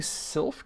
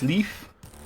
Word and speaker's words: Sylph: You think Sylph is pronounced Sleef? No, it's not. It is not. You're thinking of, You're thinking of something else, actually. Yeah, you're thinking of a more sort of a Gaelic or Welsh word.